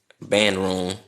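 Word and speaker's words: bandrún: So a bond rune in Icelandic band rune is how they used to pronounce it.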